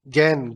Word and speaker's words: gern: Please, किसी को break चाहिए या सर ये जो GERN था उसका क्या प्रोनाउंसिएशन है? गैर्न? गैन गैन गैन?